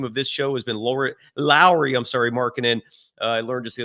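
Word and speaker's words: Lauri: this show has been Lowry, Markkanen. I learned just the other day his first name is pronounced like Mike Lowry from the Bad Boys movies. So Lowry Markkanen, we're all holding our breath, hoping that deal happens.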